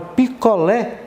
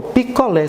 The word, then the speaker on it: picolé: Por exemplo, a palavra picolé. O picolé, você percebe que o lé, né, chama a atenção.